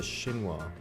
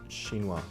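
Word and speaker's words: chinois: a Cambro container and this this is a shinoa so that's spelled c h i n o i s shinoa French word and this is like the most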